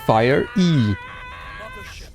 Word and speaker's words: Fiery: Felt like fire, but pronounced Fire-E.